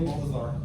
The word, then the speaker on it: Baltazar: you my name, I I'll just pronounce it the white way. Just Yeah. My name is Baltazar. Even though my last name is Spanish, I don't I don't really roll my Rs.